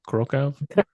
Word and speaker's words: Kraków: Is that how you say it? Krakow? Kraków. Krakow, and then Kraków.